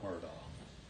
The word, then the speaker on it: Murdaugh: our honor to represent Alec Murdoch Homer doc depending on how you pronounce it I say it's our